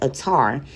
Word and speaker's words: Adar: Adar, originally pronounced Atar, is a word of Akkadian origin and means father of decision.